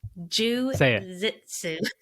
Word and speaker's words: jiu-jitsu: I say it wrong again. Jiu-jitsu. No, J like jit. Jiu-jitsu.